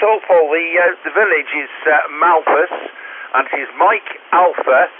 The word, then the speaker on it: Malpas: The village is Malpas, and it is Mike Alpha Lima Papa Alpha Sierra. That's Malpas in Cheshire.